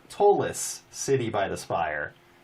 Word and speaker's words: Ptolus: The P is silent. Ptolus, yeah. I've been saying that wrong for 20 years, Monty. Nice job. Ptolus.